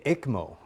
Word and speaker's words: ECMO: Am I pronouncing that right? The ECMO.